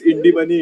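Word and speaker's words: INDmoney: video itself you were saying the name wrong it's indie money individual you did a video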